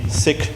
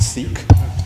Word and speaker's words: Sikh: is going to be a performance from the Sikh religion sometimes also pronounced Sikh the actor pronunciation is sik sik H the